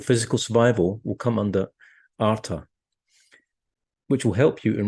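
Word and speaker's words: artha: So it's the first goal, which is pronounced arta.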